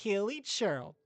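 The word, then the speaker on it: Hilichurl: I would not be surprised if I'm mispronouncing Melusine, just like how I mispronounce Hilly Churl. Hilly Churl. It's Hilly Churl.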